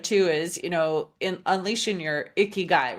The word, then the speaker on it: Ikigai: Yeah, so for a little bit of context, the concept Ikigai, which you pronounced amazingly, is not something Thank that you.